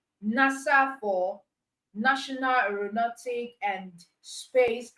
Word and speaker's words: NASA: But in the case of acronym, you are pronouncing as a word, not as individual letters. So you have NASA, NASA for National Aeronautic and Space Administration.